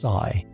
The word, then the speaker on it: psi: What we call the wave function denoted by the Greek letter psi f pronounced sigh.